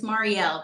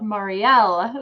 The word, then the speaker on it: Mariel: Yes, it's Mariel, but that is totally Yeah. fine. Yes, I have to remember that L, Marielle.